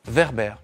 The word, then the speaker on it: Werber: ils veulent d'abord savoir comment il se prononcent verbère comme un réverbère on cherche votre âge